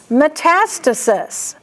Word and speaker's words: metastasis: Metastasis. That one is oftentimes mispronounced because you see the meta, so you want to put the meta together. But it's metastasis, I promise you.